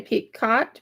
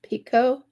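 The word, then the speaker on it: picot: Pico pull it through some some say peot Pico I think the t is silent I'm not sure and then double crochet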